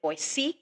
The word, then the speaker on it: Boise: So when I say mountaintop in Boise, and you do pronounce it Boise, not Boise.